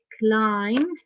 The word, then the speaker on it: climb: Scrambled means quick, climb, not climb, no. The B is silent here.